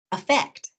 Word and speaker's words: effect: it's the vowel, but often in conversation, the first vowel in those two words gets reduced to a schwa, to that lazy sound. What's different, however, is the syllable stress. Affect, effect.